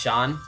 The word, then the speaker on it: Shun: As for his name, Sean, I prefer to say it Shun, even though it's supposed to be pronounced Sean. The reason why is because when you say the word sun, Shun kind of sounds similar, so you add H there.